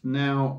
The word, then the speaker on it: Naw: Spiel on the back nor pronounced now well 49 it's a